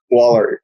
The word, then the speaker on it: Woller: by the way, is your last name pronounced Woller? Is that correct? Yeah, like an A, like a wall and an Woller.